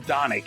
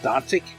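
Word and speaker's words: Dončić: ago luka doncic dodic i keep calling him donek and but it's there's a cic that hit the end of his name after the dawn so i think he's pronounced dantik doncic no i'm not but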